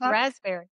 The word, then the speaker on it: raspberry: You don't You don't pronounce the P in raspberry. You It's raspberry. No, P is silent. It's raspberry.